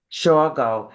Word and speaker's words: Shawgo: fun guest today her name is Janet hey Sho did I pronounce that right yes excellent and and hey